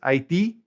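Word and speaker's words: Haití: Haiti is Haiti, accent on the last I, and they are Haitiano, Haitiano.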